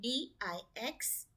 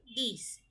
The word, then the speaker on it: dix: And DIX, number 10, is this. So, we pronounce it like sees. Same way, these. It is not dix or dix or dux, nothing like that. It is these.